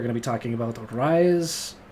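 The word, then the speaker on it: Reise: The next video, we're going to be talking about Rise, is it Ryza, or Rise? I think it's Ryza, because it's kind of how he pronounces it in the song.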